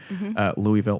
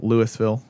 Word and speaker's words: Louisville: yes yep and that is in Louisville Kentucky Louisville Louisville Louisville Louisville yeah you pronounce it and then gas is of course